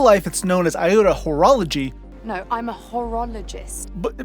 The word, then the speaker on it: Horologii: it’s known as Iota Horologii (horologist?) probably pronounced hor-oh-low-gee, but I'm pronouncing it the other way, is located here 56 and a half lightyears away.